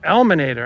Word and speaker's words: ELMinator: and stuff yeah there you go so it's elator I was mispronouncing your name I apologize to The Eliminator